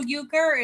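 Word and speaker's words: euchre: And when you Google Uker, it's spelled E U C H R E, not Uker.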